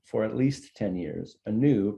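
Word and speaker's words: Anew: at least 10 years a new pronounced and you and you as a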